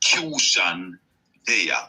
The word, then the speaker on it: Qshan Deya': This is the Q of my name. SHAN from the suffix of the word nation. Just spelling it like I'm pronouncing it instead of putting TION.